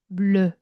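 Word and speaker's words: bleu: 영어는 블루잖아요. 우리는 우바 발음이 아니라 블루. 블루. 어,이 미묘한 발음이 나죠.이 입술은 우인데 속의 발음은 으야. 블르 물르 물르요 발음이에요.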